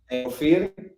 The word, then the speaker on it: Ofir: I think there wasn't one competition that we went through that the MC pronounced our name correctly, right? So how do you say it? Ofir.